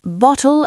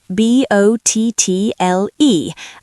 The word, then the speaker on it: bottle: In American English, when a t is between two vowels, it becomes a soft d.